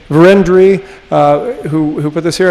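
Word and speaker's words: Vérendrye: was put here by the van dry i believe that's correct pronunciation verendry uh who put this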